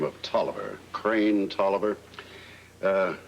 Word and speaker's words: Tolliver: name of toliver crane toliver uh it's spelled just exactly as it sounds with a double l in tolliver what's he done well